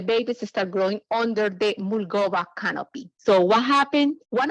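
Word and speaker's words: Mulgoba: survive and that was the mulgoa mango the mulgova mango was planted here in coconograph Florida can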